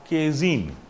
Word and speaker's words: casein: PI of casein, what is casein? CAACIN. Casein is a milk protein. Casein is a phosphoprotein. উচ্চারণটা কেজিনই হয়, এস নয়, ঠিক আছে? উচ্চারণটা কেজিন হয়।